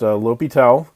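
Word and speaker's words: L'Hôpital: is called l'hopital's rule i know it's spelled l hospital but it's pronounced l'hopital and he was a french mathematician uh and so what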